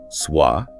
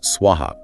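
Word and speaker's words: स्वः: Oh yes, for instance, people sometimes add an extra m where it doesn't belong or mispronounce swah, referring to swaroka, the celestial realms, as swuah, which has a different meaning and energetic implication often used for oblations in fire rituals.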